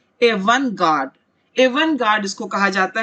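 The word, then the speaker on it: avant-garde: इसे कहा जाता है, प्रोनाउंसिएशन पर ध्यान दे, एवन गार्ड।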